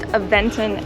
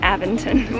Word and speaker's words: Aventon: rode our bikes I learned that it's actually pronounced eventin and not aventon we've been mispronouncing it the whole time we